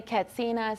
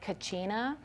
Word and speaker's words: Katsina: Some people say Katsina, some people say Kachina. And Kachina is the most recognized form of the word that represents a